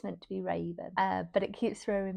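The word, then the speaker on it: Ravyn: be the love interest is called like Raven, but it's spelled weirdly. So, it's like R A V Y N. And I keep wanting to be like Rav because that is a name and then Yun, but Ravian isn't maybe it is Ravian,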